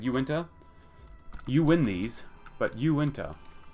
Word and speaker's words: Uinta: Discussing about the pronunciation of what I normally would call Yinta. Apparently, it should be Uinta.